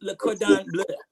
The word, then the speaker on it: Le Cordon Bleu: No, it's Le Cordon Bleu.